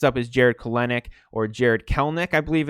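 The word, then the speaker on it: Kelenic: the video next up is jarrod kalenick or jared kellnick i believe it's pronounced which is strange with the spelling but i've had mariner fans tell me it's kelnick he's a stud he is so in 2019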